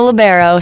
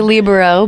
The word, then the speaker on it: libero: A libero. Some people say libero, but I say libero.